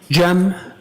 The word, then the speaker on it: Cem: Jan.